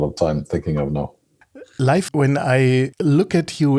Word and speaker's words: Leif: name my name is life it's pronounced like life like life is life is life